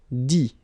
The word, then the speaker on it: dit: Dire, I-R-E, will become I-T, dit. Okay, phonetically, same thing here. You don't pronounce the final T.